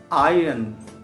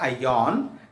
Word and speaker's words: iron: the information gets down like iron iron not ion is iron okay Nick white eagle